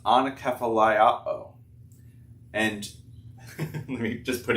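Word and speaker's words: ἀνακεφαλαιόω: It might be hard to read it, but it's pronounced anakephaliao.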